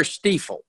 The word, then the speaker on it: Stifel: But we are Stifel.